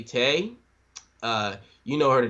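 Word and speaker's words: Tae: yeah I I'm gonna go ahead and say Tay uh you know her the doctor okay and Tay I thought it was Ty okay oh yeah yeah all right sorry it's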